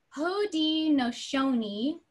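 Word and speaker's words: Haudenosaunee: to vote yeah so I can actually spell it for you because it is not said so much the way it sounds it was the hoodie no Shawnee Confederacy and that spelled h au de n OS a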